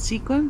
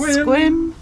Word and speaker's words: Sequim: to do we've spent two days here in squim I kept pronouncing it squin but it's actually pronounced squim um picked up our packages we saw our